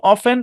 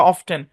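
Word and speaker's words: often: বা বা বাফেলেই গমে অফেন বা অফটেন এটাকে দুইভাবে উচ্চারণ করা যায় অফেন অফটেন দুইভাবে উচ্চারণ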